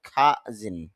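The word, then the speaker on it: cousin: ইংলিশে যেহেতু শুরুতে সি এসেছে এই কারণে এসপিরেশন হবে, অর্থাৎ মুখ থেকে অতিরিক্ত বাতাস বের হবে, এই জন্য কাজিন না হয়ে হবে খাজিন।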